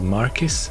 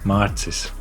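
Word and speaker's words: Mārcis: My name is pronounced Marcis. And it's spelled with a little line on top of the letter A, but enough with a history lesson.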